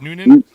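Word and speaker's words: Newnan: How do you say it? Noonan? Yeah, Noonan, Georgia.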